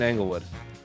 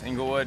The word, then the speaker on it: Inglewood: lydon how's life in englewood inglewood's doing good it's um yeah it's angle yeah it rhymes angle word is doing good yeah